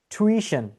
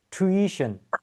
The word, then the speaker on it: tuition: The correct way to pronounce this word will be tuition.